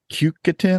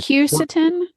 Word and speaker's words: quercetin: Is it Cucatin, I think is what's in them, or something? Quercetin.